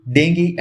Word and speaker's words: dengue: तो सबसे पहले प्रोनाउंसिएशन, इसे डेंगू नहीं बोला जाता, एक्चुअली इसे डेंगी बोलते हैं।